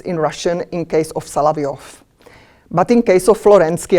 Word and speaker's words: Solovyov: vladimir sergeyevich salaviov my pronunciation is i use pronunciation how is in russian in case of salaviov but in case of florensky i will use